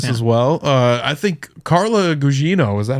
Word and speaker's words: Carla Gugino: I think Carla Gugino, is that how you say her name?